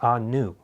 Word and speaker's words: Anu: known as the Anunnaki they're actually termed the Anu is the actual pronounce pronunciation of their their species name many people have read